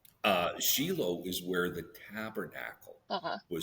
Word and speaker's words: Shiloh: I've always called that place Shiloh. Now, you are in Israel. How do they pronounce it in Israel?